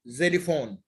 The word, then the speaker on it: xylophone: And then we go to the X, which is always pronounced as Z, like xylophone. Like there is not too much words when okay, when X come at the beginning, but it's very special word, yani, like xylophone, like X-rays.